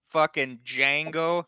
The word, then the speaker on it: Django: and then he's like the D is silent and then Franco Nero's car Franco Nero's character is like I know it's like d Jango and D Jango y but no in